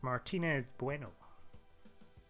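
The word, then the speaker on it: Martínez Bueno: pronounce the name it's Martinez Bueno like the chocolate bar it's spell like the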